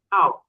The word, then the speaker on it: law: W-nya nggak dibaca. Kalau W-nya dibaca kan nanti akhir dari mulutnya itu kan mengatup ya, law gitu, hampir mengatup. Tapi cara bacanya ini dia tetap terbuka kayak seperti AO, law.